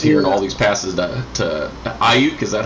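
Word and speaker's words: Aiyuk: I thought I was driving home from church listening to the 49ers game, and I was hearing all these passes to Ayuk.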